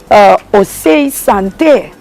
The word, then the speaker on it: Ose Sante: Ase Senti, and my uncle told me it comes from Ose Sante. Say Sante, but their pronunciation through the years becomes something else. Right. So we call it Ase Senti. Some people say Ase Sente. Okay. But the original name is Ose Sante.